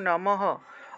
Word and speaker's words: নমঃ: বিসর্গ এর ব্যবহার অর্থাৎ শব্দ বা বাক্যের মাঝখানে থাকলে বিসর্গ এর উচ্চারণটা অর্ধরূপে হয় অর্থাৎ এভাবে নমঃ নমঃ উচ্চারণটা হলো নমহ বলা যাবে না নমহ বললে তো